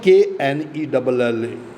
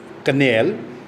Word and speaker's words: knell: It is not Knell, canal. It is knell. K is silent.